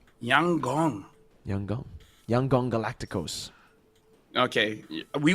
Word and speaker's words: Yangon: By the way, Lfell, apparently YG is pronounced Yang Gong. Yang Gong. Yangong.